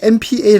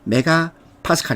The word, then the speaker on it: MPa: 설마 이걸 MPA 로 읽지는 않으시겠죠 ? 설마 그러진 않겠죠 ? 메가 파스칼 입니다 . 메가 파스칼 — 물론 MPA 라고 읽어도 괜찮습니다 .